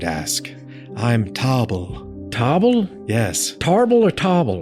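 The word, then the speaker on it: Toble: Tarble or Tobble? Tobble. It's spelled like table, which isn't a thing I was just looking at.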